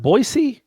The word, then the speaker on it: Boise: did she smell Boise boy as in boy band and then just the letter C as in Charlie it's pronounced Boise yeah oh man come